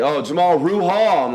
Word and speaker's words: Rahal: Yeah, it's Jamal Rahal. It rhymes. I was like, oh, Rahul.